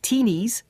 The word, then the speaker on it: tinnies: about tin cans earlier Australians of course call their drink cans tinnies or as we would hear it we'd we think they say it like teenies indeed and they borrowed